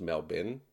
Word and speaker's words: Melbourne: It's pronounced Melbin.